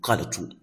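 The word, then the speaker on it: قلت: So if you remove the alif, it will now be qalatu, qalatu, qalatu.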